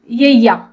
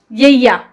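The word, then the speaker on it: ਯੱਯਾ: तो ये हो गया यय्या। ठीक है, सो वाई डबल ए, यय्या, यय्या।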